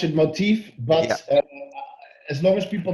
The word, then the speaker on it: Moteefe: with the pronunciation motif i listen norwich i pronounce it motif but as long as people know to find